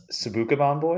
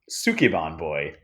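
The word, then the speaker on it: Sukeban Boy: was one called a sauka ban boy or sorry wait let me pronounce that correctly it's called sukon boy which is about a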